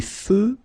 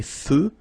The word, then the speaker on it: feux: Des feux de circulation. So here final X not pronounced. Des feux de circulation.